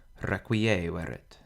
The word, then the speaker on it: requiescerit: In requiescerit, the penult is short, so the accent falls on the antepenult, requiescerit.